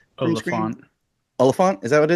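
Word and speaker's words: Olyphant: Oliphant.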